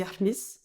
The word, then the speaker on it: Khemis: Ça se dit Ahmis, Ok. en vrai, mais tout le monde prononce Kémis, voire il y a même des gens qui disent Kémi.